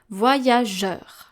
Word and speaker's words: voyageur: The next case is the word voyageur, where we have G-E followed by a U, voyageur. In this case, we pronounce je, so the soft G, and then the sound E, which is E-U together, voyageur.